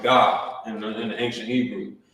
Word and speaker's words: Gad: 12 tribes of Israel you'll write their name like this Gad but in ancient Hebrew remember you will pronounce it you were pronounce it God in in the ancient